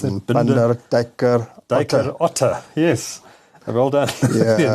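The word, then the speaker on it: Binder Dijker Otte: The company is an abbreviation of Binder or Binder, I'm not sure how you pronounce it. Binder, Dijker, Otte.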